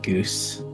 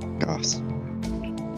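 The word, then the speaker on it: Gose: If you spell it G-O-S-E, stop thinking Goose. G-O-O-S-E. Yeah. It's not a ooh, yeah, it's an ah. Goss.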